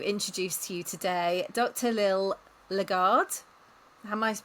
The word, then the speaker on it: Lil Legard: Liil Lagard. Am I pronounced that correctly?